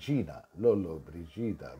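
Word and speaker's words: Gina Lollobrigida: যেমন জিনা লোলো ব্রিজিদা, জি আই, মাঝখানে ইউ নেই, ওই জন্য জিনা লোলো ব্রিজিদা।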